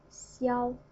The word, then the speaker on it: 消: It pronounced as 消, 消, the first tone, 消.